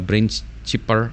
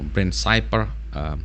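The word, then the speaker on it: BrainCipher: hit by ransomware from a BrainChipper or BrainCyper, depends on your pronunciation, BrainChipper group.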